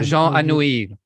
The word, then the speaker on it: Jean Anouilh: I don't know how to pronounce this. Yeah, Jean Anouilh.